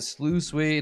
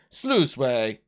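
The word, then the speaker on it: sluiceway: through town or similar how do you pronounce this word it's going to annoy me let me just make sure I get that just lose weight it's loose way sluice way all right nailed it uh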